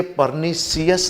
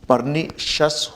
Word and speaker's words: pernicious: जैसे ये परनिशियस नहीं, परनिशस होगा।